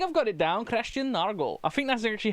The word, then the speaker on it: Nørgaard: Christian Nørgaard. I don't know why I did the accurate pronunciation.